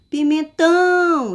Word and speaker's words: pimentão: Pimentão. Então, eu tive uma extensão, uma força ao pronunciar a sílaba tão. Então, essa palavra, a sílaba mais forte dela é a sílaba tão, que é a sílaba tônica.